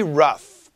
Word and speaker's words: rough: 그리고 GH 보면, GH 같이 보면 it's an F sound. Pretty rough.